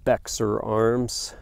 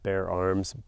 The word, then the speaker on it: Bexar Arms: Bexar Arms, just kidding, it's pronounced Bear Arms, B-E-X-A-R.